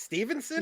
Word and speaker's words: Stephenson: you know is it is it stephenson or stevenson i thought it was stephen it looks like stephenson it's stevenson no it's stevenson yeah it's spelled steffensen that looks and i'm really